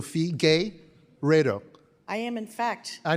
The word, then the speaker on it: Figueiredo: So Fee, gay, Redo.